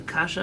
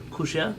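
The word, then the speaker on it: קושיא: In more Yiddish Hebrew, there's a kasha and a teretz. Every kasha, every question has a teretz, an answer, but that's not the pronunciation. Kushia is a question, a terutz is an answer.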